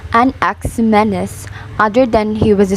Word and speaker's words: Anaximenes: its life of a nexuminus pronounced an ax menace other than he was